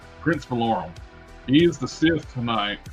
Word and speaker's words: Valorum: How do you pronounce his name? Yeah, I I didn't Vader was very forgettable in this. Valorum. Prince Valorum.